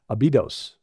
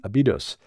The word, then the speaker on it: Abydos: It spread from there in the Nile Delta to the south to Abydos, or actually it's the syllables on the second, there's Abydos, Abydos, and that became the center of his cult.